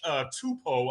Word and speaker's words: Tupou: Same thing against Cincinnati with Josh Tupou, I believe is how you pronounce his last name.